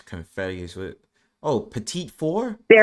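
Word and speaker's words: petit four: We don't We don't pronounce it pedophores. We pronounce it petite four.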